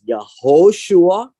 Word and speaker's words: Yehoshua: in the english joshua which is pronounced as yahushua in the hebrew uh and the original